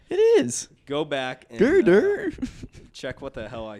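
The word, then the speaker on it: Gurdurr: It's Girder. It's Girder. It's spelled G-U-R.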